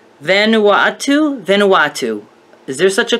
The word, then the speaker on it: Vanuatu: Vanuatu? Vanuatu. Is there such a country? If it was a Y, that would be silly. That would be like Yanawatu. No, it's got to be Vanuatu.